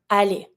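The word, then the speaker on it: aller: going to see that every verb that finish with e r is going to be pronounced the same way the e r is going to be the a sound so to go we're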